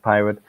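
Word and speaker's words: PyRIT: r pirate PY RI T um yeah but pronounced pirate that help you with automating it where the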